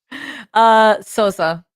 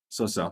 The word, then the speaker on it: Sousa: So, how do I pronounce it? But okay, that I know. Your surname, please. Sosa. Sosa.